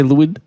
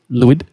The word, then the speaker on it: Lwyd: ever heard of Mary Lloyd sounds like you said that wrong Mary what Mary Lewis Mary Lewis you need me to spell it for you sure l-w-y-d wood Mary Lloyd sure no I'm not